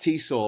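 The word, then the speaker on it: Tisza: It's pronounced T-saw, like seesaw.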